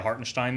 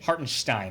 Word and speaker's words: Hartenstein: my favorite player in the entire league Isaiah hartstein though has made upwards of a great Gary Gary how do you pronounce his name hartenstein very nice you've been listening to ion I